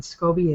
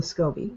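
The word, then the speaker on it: SCOBY: then you're going to use a scobby and scobby is is spelled s c o b y and that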